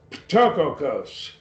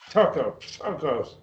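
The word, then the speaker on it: πτωχός: Tokos. Oh. Tokos. You almost got to spit when you say it.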